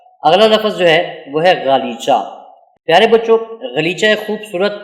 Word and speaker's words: غالیچہ: پھر لی، پھر چا۔ اب ان تینوں کو جوڑ کر پڑھیں گے تو یہ بنے گا غا لی چا، اور اس کو ادائیگی کے ساتھ تلفظ کرتے ہوئے پڑھیں گے تو یہ بنے گا غالیچہ۔ کیا بنے گا؟